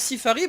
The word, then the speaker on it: Seafari: Alors pourquoi je prononce Sifari? Tout simplement parce que c'est un artiste espagnol.